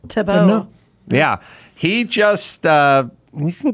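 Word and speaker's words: Thibault: Tim Tebow, even though it's spelled weirdly, it's just pronounced that way. Tebow.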